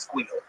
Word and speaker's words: SQL: By the way, you pronounce SQL. It's squeal. Good.